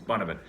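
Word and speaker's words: Bunnahabhain: And then there's one Bonavent that's Bunnhabha, whatever. If you read it, it reads like something like Bonahava Bahane or something like that, but it's Bonavent.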